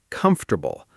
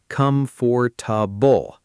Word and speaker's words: comfortable: Take the word comfortable. A lot of learners say all four syllables clearly, com-for-ta-ble. But native speakers actually compress it into three sounds, comfortable.